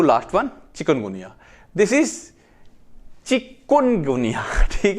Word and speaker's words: chikungunya: come to last one chicken गुनिया this is चिकुन गुनिया ठीक है लोग चिकन चिकन बोलते हैं चिकन गनिया चिकन गुनिया चिकन नहीं है चिकुन है ठीक है ना चिकुन चिकुन